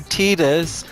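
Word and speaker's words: Tidus: not going to because his name is Titus and before you send me all of these hate comments saying No it should be tetus because James Arnold Taylor has said it's tetus um what's um Miss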